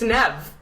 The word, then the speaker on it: Niamh: You were the one that was like, no, it's Nev. I was like, but I think it's Niamh. It's like, no. It's like, I think I've been stalking her. So you looked up the right pronunciation of her name? No, some people actually spell it Neeve, on Facebook, I've noticed.